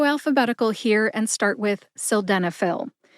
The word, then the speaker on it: sildenafil: s denil s denil has four syllables sill like a window sill Den like Denmark uh which is a short a sound or a schw a sound uh and Phil as in pharmacist Phil prescriptions for selenop put that